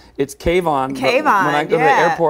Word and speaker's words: K-von: Kayvon.